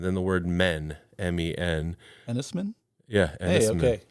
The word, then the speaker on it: Enys Men: a movie that I didn't know how to pronounce it was spelled e-n-y-s and then the word men m-e-n ennisman yeah okay correct you are correct yeah it